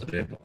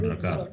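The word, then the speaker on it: रेफ: This is always pronounced as repa, remember. Okay. It is not rakara. To call it as rakara is wrong.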